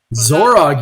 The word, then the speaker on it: Zorrog: bygones be bygones uh zorrog here zorrog you nailed it he is our um